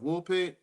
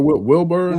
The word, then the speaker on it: Woolpit: And that's and how do you spell that? You said the Green Children of, how do you spell Wilburn? Woolpit.